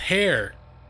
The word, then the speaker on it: Hair: Your name is pronounced Hair, but don't worry about it. Hunter Hair like that.